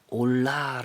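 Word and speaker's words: עֹלָה: 번제 라고 번역을 한거구요 올라 라는 말 우리말 올라간다 하고 발음도 굉장히 비슷한데요 아 실제로 그런 뜻입니다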